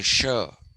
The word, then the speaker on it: shire: sure we say shire when we write s-h-i-r-e the british say sure for s.h.i.r.e and d-e-r-p-y darby they